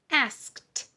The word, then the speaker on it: asked: Asked. Let's write the word ask. And then the T. Let's add the ED to make the T sound. Now, why does ED say T in asked? Asked.